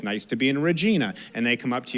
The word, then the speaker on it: Regina: nice to be in Regina. And they come up to you afterwards and they go, it's Regina, like vagina.